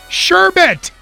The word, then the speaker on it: sherbet: cream sherbet and it's uh what is it sherbet right not sure but your bed exactly sure